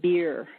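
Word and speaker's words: BEIR: a bad joke because the acronym is pronounced beer but it's be R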